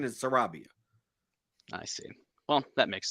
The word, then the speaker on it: Sarabia: can actually search and see what the proper pronunciation is Sarabia I see well that makes sense then um